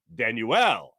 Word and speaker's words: Danuel: what don't you know the pronunciation guide it gives you is is danu L danuel house with the 76ers